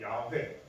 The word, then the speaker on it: 야훼: 발음하게 된 거고 여호와보다는 야훼, 이 야훼라는 발음이 더 본질에, 그러니까 본 언어의 의미, 그러니까 발음에 가깝다라고 해서 야훼라고도 많이 부릅니다. 그래서 우리가 흔히 여호와라고 하지만 그 야훼가 더 발음에 가깝다는 사실, 그것을 좀 알아줬으면 좋겠습니다.